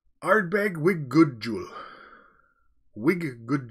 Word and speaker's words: Ardbeg: it's anything like Irish it's pronounced like art bag wit good jewel wit